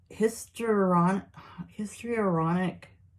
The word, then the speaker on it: histrionic: Histrionic, like history, but it's like history and bionic together.